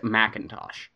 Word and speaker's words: McIntosh: of apple that is spelled McIntosh but pronounced Macintosh I yeah but the